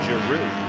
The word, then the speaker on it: Giroux: So it is Giroux. Not Giraud, I guess. Yeah, well, it's a French name, so, you can understand why you would say Giraud.